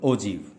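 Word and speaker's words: ogive: अब ओजीव ओजीव जो word है असली में ये प्रोनाउंसिएशन होगी, इसकी प्रोनाउंसिएशन क्या होगी? ओजीव। ये एक्चुअल वर्ड ओगी से बना है।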